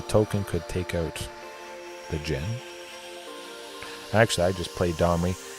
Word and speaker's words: Djinn: I always like calling it Djinn. Pronouncing the J, or the D. The D is usually silent.